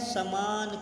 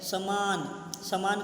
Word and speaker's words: सामान: वह सामान खरीद रहा है। समान का अर्थ होता है बराबर, तो गलत हो गया। शुद्ध उच्चारण में वह सामान खरीद रहा है। सामान यानी वस्तु, सामान।